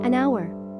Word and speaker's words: hour: unicycle and plus noun starting with silent H an hour a plus noun